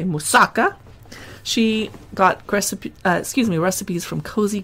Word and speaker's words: moussaka: She does a lentil moussaka, which some people say moussaka, but I say moussaka.